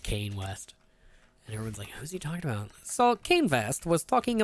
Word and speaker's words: Kanye: his live stream and he kept calling him Kane he's out of the pronounced Kayne West salt came fast was talking about Trump and